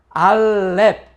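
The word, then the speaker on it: אלף: 알레프 (Aleph) 라고 발음 할 때 , 기본 적 으로 'ng' 발음 과 같은 음가 를 냅니다 . 물론 , 알레프 는 묵음 이며 , 묵음 이란 소리 가 나지 않는 글자 를 의미 합니다 . 하지만 이 글자는 'ng' 발음 과 함께 사용 되기도 하고 묵음 으로 사용 되기도 합니다 .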